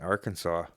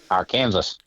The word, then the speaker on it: Arkansas: Does it actually have it spelled out like saw at the end, like SAW? Yeah, it's AR-KAN-SAW.